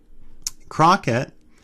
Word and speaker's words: Crockett: Crockett is, if we look here, that's a K sound, guttural, Crockett. It's a K sound of this K, even though it's spelled C.